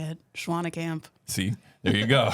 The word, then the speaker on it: Schwanekamp: Schwanekamp.